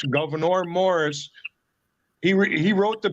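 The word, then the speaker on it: Gouverneur: St Lawrence River or just type in Governor it's how it's pronounce Governor Morris he he wrote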